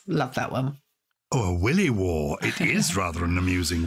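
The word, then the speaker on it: williwaw: Honestly, be careful how you pronounce that one. Third one's a little bit easier. I love this one. A willy war.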